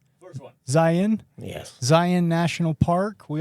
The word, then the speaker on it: Zion: Zion? First one. Zion?